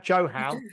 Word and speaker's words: Johal: Yeah, Johal. Just wanted to check the pronunciation.